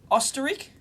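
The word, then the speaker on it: Österreich: crowd electronics in history Oster ik anyway that's the Austrian pronunciation pronunciation of Austria apparently it's a oh jeez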